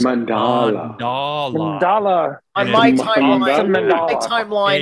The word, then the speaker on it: Mandela: people that know the Mandela effect is real and also can possibly be admit to themselves that also some of it is misremembering. Are you saying Mandela? Mandela effect. It's it's pronounced mandala.